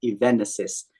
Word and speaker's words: Evenesis: is pronounced as Event Event assist it's actually a combination of events and Genesis perfect I'll include links